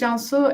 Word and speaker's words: Cansu: So my name is Cansu, as Scott's beautifully pronounced.